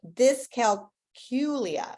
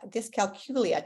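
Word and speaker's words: dyscalculia: discal culia disc calcula tough one because I used to say it wrong until I heard a lady um just do a presentation from this from learning disabilities America it is like saying the letter Q there in the middle discal culia uh it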